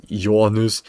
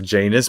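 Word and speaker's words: Janus: I still don't know why I pronounce yanus the way I do. I'm pronouncing it like anus but yanus. Yus you copium plus bad financial decisions equals half stone weightless beat me yeah I don't know why I like to pronounce it as yan news yanus I don't know why it's actually I mean actually I meant to pronounce it as janis but I just like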